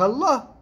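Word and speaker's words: الله: c'est c'est extraordinaire c'est c'est par Allah c'est comme ça qu'on la prononce en arabe merci à bientôt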